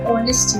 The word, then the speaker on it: honest: word honest is oh h is basically silent as earnest man that